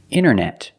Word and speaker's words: internet: You have nt in the middle. The t is silent. Other examples. Internet.